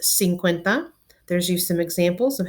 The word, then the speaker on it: cincuenta: it's based on the word Cinco again it's pronounced cincuenta there's you some examples of how those would